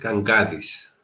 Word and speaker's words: Gangadis: His name is Nikos Gangadis. Perfect.